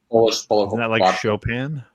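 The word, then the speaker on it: Chopin: Shopen. Have you tried shopen? Spell it. C H O P I N. Mm- sounds like Shopan.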